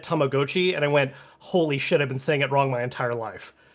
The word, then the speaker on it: Tamagotchi: a Legends of Arceus situation where they said Tamagotchi, and I went, "Holy shit! I've been saying it wrong my entire life." yeah, it's too bad. Tomogachi.